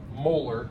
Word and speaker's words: molar: Molar is how you say it when it's a unit and it's of HCl.